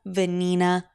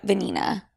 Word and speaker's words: Venina: venina and yes my middle name is venina and yes it is very similar to the word vagina it is a very Argentine name and yes it rhymes with my first name V venini